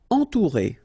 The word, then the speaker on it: entourer: Entourer. Okay, nasal, en, then O and U together, ou, entourer, entourer.